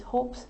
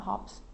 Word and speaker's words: hopes: So it's hopes, not hops, hopes. Like hopes and dreams, so hopes.